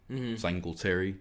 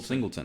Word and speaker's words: Singleton: Singletary. Did I do it again? Singleton.